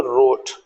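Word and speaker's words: wrote: सब साइलेंट है रन डब्लू आर ओ टी ई तो बोले रोट रेसलिंग या आर डब्लू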